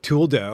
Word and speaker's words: Trudeau: He like, Trudeau. yeah, that's how you say it in French.